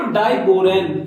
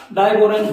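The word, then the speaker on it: diborane: हम बोलते हैं उसको डाइबोरेन। क्या? डाइबोरेन। बहुत फर्क है इसमें। इसकी स्पेलिंग होती है BORON और इसकी होती है BORAN। डाइबोरेन पढ़ते हैं इसको पढ़ते हैं बोरॉन।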